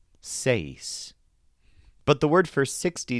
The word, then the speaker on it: seis: Seis is an interesting word because it stresses the bent vowel sound A. Seis.